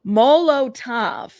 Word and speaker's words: Molotov: Molotov. Thank you. The damage from a Molotov cocktail in my porch.